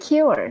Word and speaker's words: cure: Cure. Yes, Q. Just like the letter Q. Cure.